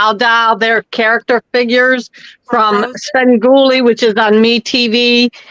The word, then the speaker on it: Svengoolie: Oh, she said, I don't know how to pronounce it. It's Svengoolie.